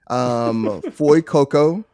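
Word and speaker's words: Fuecoco: I'm already pronouncing them wrong. So it's Sprigatito, Foy Coco, and Quaxley.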